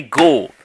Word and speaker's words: Gould: ladies and gentlemen, talk about track star Anthony Gould is an Indianapolis Colt.